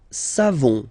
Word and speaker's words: savons: Nous savons. So classic ending for nous, O-N-S. You don't pronounce the final S.